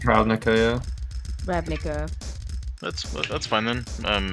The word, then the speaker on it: Ravnica: It's pronounced Ravnica, yeah.